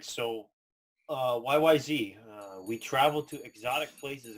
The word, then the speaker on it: YYZ: YYZ is actually pronounced YYZ for Canadian and British way of pronouncing Z.